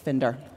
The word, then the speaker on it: Finder: National Book Festival, Joseph Finder. Thank you, Gail, and thank you for saying my name right. I am Finder, not Finder. A few years ago, I